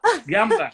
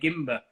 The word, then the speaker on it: Gamba: How do you say his name? Jamba. Gamba, that's it. Gamba. Yes. I was going to say Gimba.